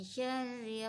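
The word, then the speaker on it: شَرِّ: Misalnya syarri, ya ditekan 2 harakat saja. Syarri, ya 2 ketukan.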